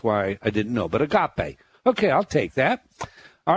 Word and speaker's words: agape: start by asking you what what's the preferred pronunciation that you would like is it a gape or oh agape agape all right so the love of jesus